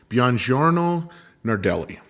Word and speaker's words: Buongiorno Nardelli: His name is Marco Buongiorno Nardelli.